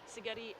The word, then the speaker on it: Szigeti: And her coach says it's Szigeti like spaghetti. Like spaghetti, yes, so Szigeti. That's a good way to remember it, because I think we'll be seeing a lot more of Szigeti.